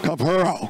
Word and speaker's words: Capurro: Capurro. Double R, roll it.